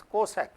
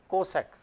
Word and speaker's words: cosec: In CSC, that is cosec, we pronounce it as cosec.